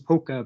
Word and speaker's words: POCCA: So the arcane pronunciations poka, pokma, pokes.